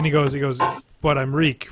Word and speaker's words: Reek: goes he goes but reek reek it rhymes with like rhes with Meek rhymes with Meek rhymes with yeah yeah